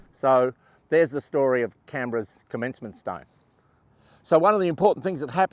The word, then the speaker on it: Canberra: she said one word Canberra so that's where we take our Clues as to how to say the word Canberra and of course it